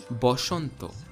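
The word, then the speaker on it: বসন্ত: a it's o therefore the hindi word basant which in sanskrit would be vasantha in bengali becomes boshonto similarly this word in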